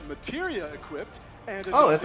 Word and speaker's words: Materia: Using an item in battle will deplete an ATB charge, and if Cloud has the right materia equipped and Oh, that's how it's pronounced.